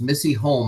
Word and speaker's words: Missy Holm: And I mispronounced your name. It's Missy Holm.